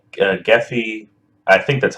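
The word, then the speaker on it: Gephi: of it so I'm using a program called geffy I think that's how you pronounce it it's g-e-p-h-i and it's a a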